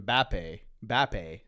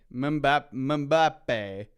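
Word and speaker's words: Mbappé: It's just something Mbappe. Mbappe.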